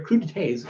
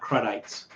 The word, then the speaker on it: crudités: But they're crudités and not crudites, although it's spelled like crudites.